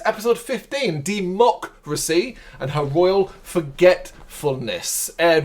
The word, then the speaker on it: De-Mock-Racy: him through segment one democracy the reason why I'm saying it that way is because it's how it's spelled de hyphen mock mlc K cuz it's a joke H and then hyphen racy r a c y